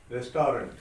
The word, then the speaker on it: restaurant: Restaurant. Restaurant. Exactly. It is not restaurant, it's restaurant. Restaurant. Okay, T won't be sounded at the end.